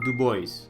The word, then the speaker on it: Dubois: for the night in dubois yes that is how it's pronounced here at this point we